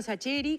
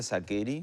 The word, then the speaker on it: Sacheri: Entonces yo mismo, como hacemos en Argentina, lo castellanizamos si es Sacheri, Sacheri, Sacheri, y yo mismo digo Sacheri ahora.